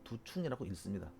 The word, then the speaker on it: 두충: 저게 참 여러분들이 이제 한글 파일로 저 한문을 쓰다 보면은 두중이라고 쓰고 발음을 두충이라고 읽습니다.